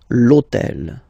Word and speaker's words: l'hôtel: starts with H, but remember that in French we don't pronounce H, okay, so basically the first sound of the word is the vowel O, okay, so for the